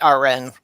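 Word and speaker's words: Aaron Ra: I love listening to Aaron Ron or oh yeah as he prefers mm-hmm he says it should be pronounced our end users a couple of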